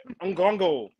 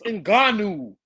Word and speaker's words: Ngannou: D Free, you said Ngongo. It's Ngannou.